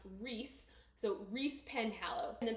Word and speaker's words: Rhys: Her main love interest is this guy named Riz or sorry it's Rhys YS and in my head it will always be Riz but apparently it's pronounced Reese.